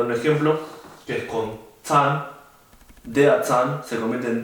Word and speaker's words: Zahn: La Z también se pronuncia como si tuviese una T en el principio, como Zahn se dice Zahn, der Zahn, que significa el diente.